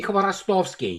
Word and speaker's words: Khvorostovsky: Am I pronouncing it right? Help me, please, Andrei. Dmitry Khvorostovsky.